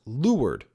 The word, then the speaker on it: leeward: Lee, the area sheltered from the wind downward, leeward, pronounced leeward, the direction away from the wind, the side of the boat opposite the windward side.